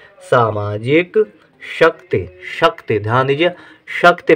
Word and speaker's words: शक्ति: टी ता के साथ ई का उच्चारण है लेकिन कम देर के लिए। शक्ति, शक्ति नहीं, शक्ति नहीं, शक्ति, जब शक्ति है तो ता में ई की मात्रा रहेगी लेकिन छोटी ई की मात्रा रहेगी।